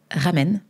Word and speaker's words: Ramen: Alors, je m'appelle Ramen. Comme les ramen, hein. Ça s'écrit pareil.